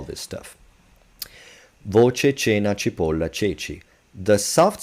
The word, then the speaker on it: ceci: Once you remember that ceci exists and that it sounds like this and it's spelled like this, you'd be like, all right, so E and I, or E and E, force C to sound like ch.